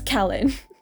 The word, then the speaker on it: Callan: haven't seen masks too this is your lesson on how to say callan's name it's Kellen and then also of